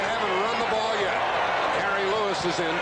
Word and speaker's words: Gary: They kept stringing the play out, and finally Gary Ellis, his name is Jerry, pronounces it Gary, was bumped out by Joey Browner.